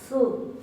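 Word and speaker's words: þú: Se va a pronunciar, habíamos dicho, la thot como una teta suave. Su.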